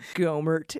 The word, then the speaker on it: Gohmert: know what i mean his name what is it when a word sounds like what it is gohmert yeah like yogurt somebody tweeted out